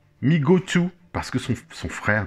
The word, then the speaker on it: Mego: Donc Mego, prononcé Migo, M-E-E-G-O, ils le disent bien, prononcé Migo, c'est rigolo, hein.